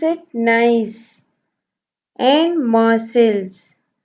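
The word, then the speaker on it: Nice: नाइस, pronounce it नाइस.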